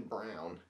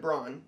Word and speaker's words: Braun: Now, somebody said the other day that it's pronounced Christian Brown. It clearly looks like Braun, like Ryan Braun for the Brewers.